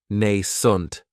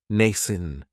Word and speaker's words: nascent: Another great adjective is nascent, and this word has 2 syllables, and the stress is on that first syllable. It has the long A sound, nascent. That second syllable has that schwa, nascent. If something is nascent, then